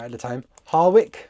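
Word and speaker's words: Harwich: Harwick, I think you say it. It doesn't look like that, but that's how you say it, Harwick. We went there just to go to the seaside.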